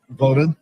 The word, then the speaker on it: Vodun: Vodun.